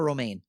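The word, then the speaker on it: Romijn: to explain quote unquote it's like the lettuce it's oh uh rebecca romain that is correct on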